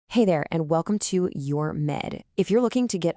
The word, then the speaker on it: UR Med: So, first things first, it's pronounced your med.